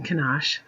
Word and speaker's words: Kenosh: plantation Barons are in kenosh kind of like ganache that yummy chocolate stuff you put on cake um then we